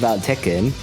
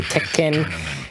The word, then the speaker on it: Tekken: Tekken.